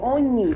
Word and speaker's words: Onyih: I hope I pronounced your name well. You did. Is it Onyih or Onyih? Onyih. Yeah. Oh, okay, Onyih.